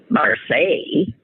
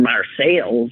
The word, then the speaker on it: Marseille: And I mean, she would have been fine if she was, in Marseille, or Marseilles, as we say around here.